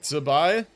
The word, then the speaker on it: Zibai: Maybe it was a soft T before you say it, like zibai. Unless that's just me hearing stuff. No, I think you're right. I think that's like the proper like Chinese pronunciation, yeah. I think you are correct about that, but like for me, just, you know, my English mouth wants to pronounce it like a Z because it's spelled like a Z, right?